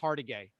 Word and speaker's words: Hargitay: Mariska Hargitay.